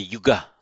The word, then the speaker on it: yuga: that's come into English you can make an alternative verbal noun with a short u um it's a neuter the yuga it means a pair it also means an